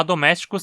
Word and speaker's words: domesticus: só pode ser paroxítona já domésticos termina como super comum sufixo icos e sempre vai fazer a palavra ser proparoxítona pois assim e fica na penúltima sílaba e ele é curto então domésticos e a galinha